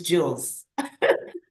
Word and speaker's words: Jules: So the nickname is Jules. So Coach Jules, yeah, just like that.